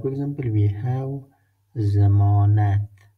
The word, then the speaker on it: ضمانت: In a word, like for example, we have zamanat. Zamanat. Zamanat means warranty or guarantee. Zamanat. Look, the pronunciation is Z, like Z. In Pashto language, all the time, Zod pronunciation is like Z.